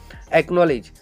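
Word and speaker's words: acknowledge: एक्नॉलेज, एक्नॉलेज में देखो के पहले कौन आया? सी। तो सी का प्रोनाउंसिएशन होगा क्या? नहीं। तो यहाँ पे क्या बनेगा आपका? एक्नॉलेज।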